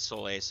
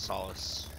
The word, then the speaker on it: Solace: And I said Soul Ace, I meant Solace. Because that's how you pronounce that, not Soul Ace.